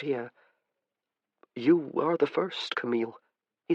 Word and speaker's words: Camille: He gave her name its proper French pronunciation, eel at the end instead of ill as her family tended to do.